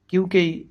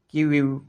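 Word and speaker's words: queue: কিউকেই অনেকেই উচ্চারণ করে থাকেন কিউইউ অথবা কিউই, এটির সঠিক উচ্চারণ হল কিউ।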